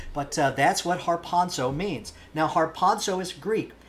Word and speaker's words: harpazo: Greek the word for rapture is the word harpazo harpazo and if you want to know how to spell that we would transliterate that into English har